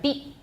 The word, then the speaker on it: beaten: Yeah, usually if I'm saying it slowly, I'm going to put a T in there. I guess I didn't do that paragraph before. I'll come back to that. So normally I would put an unreleased T there. Beaten. If I'm saying it really clearly and slowly. Beat. See my tongue? Beat. Beaten. Everyone, beaten. But I don't have to have that T there.